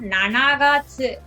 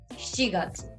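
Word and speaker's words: 七月: you have to remember this is not na nagatsu okay it's not na nagatsu it will be and sees july so please remember the fourth month which is april it's not uh young it's shigatsu and july is shigeru next is eight so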